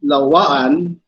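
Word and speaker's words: lauan: So Lawaan, that's how we pronounce it, but this is how we spell it.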